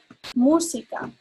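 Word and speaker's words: música: here we go so we're going to pronounce that emphasizing the u musica um let's see other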